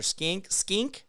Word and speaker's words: skink: I understood they were skanks or stanks or skink. I think it's a skink is how it's said.